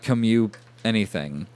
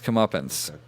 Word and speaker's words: comeuppance: it is a thing learn how to say it it's not come you anything it's comeuppance and then from that